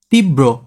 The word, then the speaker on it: তীব্র: তীব্র শব্দটি শুদ্ধ উচ্চারণ কি হবে? তীব্র। দেখো কোথায় কোথায় দ্বিত্ব হচ্ছে, তীব বাংছে এখানে, তারপর ব্রো করছে।